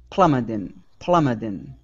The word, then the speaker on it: plummeting: here is plummeting okay switch that t to a flap t plummeting plummedin okay all right nice job